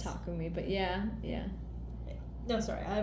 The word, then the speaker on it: Takumi: It's Takumi, but yeah. No, sorry, I will mispronounce these.